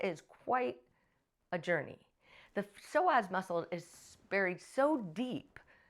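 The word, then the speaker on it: psoas: It's the SOAZ muscle, spelled P S O A S.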